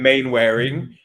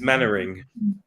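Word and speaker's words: Mainwaring: Waring or main Waring well it depends if you if if you're Captain Square you would call him main wearing but uh if you're the man himself he's mannering mannering okay come in oh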